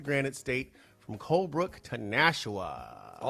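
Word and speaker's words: Nashua: Welcome to the listeners of NHPR, New Hampshire Public Radio all across the Granite State from Colbrook to Nshawa. I did have to look up that pronunciation.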